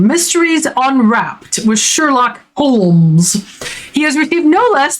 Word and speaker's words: Holmes: which the fictional character / literary juggernaut Sherlock Holmes and all the subsequent adaptations thereof still exist. Sherlock Holmes, pronounced Holmes, as he is constantly reminding Holmes,